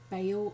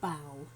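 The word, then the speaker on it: Baal: were surrounded by the religion of bale or bow doesn't matter how you pronounce that okay don't worry it's just the double al so you can say Bale you can say bow but they were surrounded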